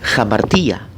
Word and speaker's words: hamartía: Y el término griego es hamartía. Hamartía, se escribe J-A-M-A-R-T-I-A, hamartía.